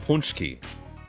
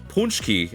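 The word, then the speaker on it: pączki: But unless I'm wrong, it's punchki.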